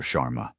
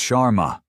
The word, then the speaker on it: Sharma: Chararma." He butchers the pronunciation of her name. Another small deliberate cut. "It's Sharma." She corrects him calmly.